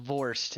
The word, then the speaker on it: Vorst: whose native escapes me Mr Vorst v-o-r-s-t it's it's the word worst but cut the W in half and pronounce it a little different he's the worst worst is the worst yeah the word worse with a German accent I got it I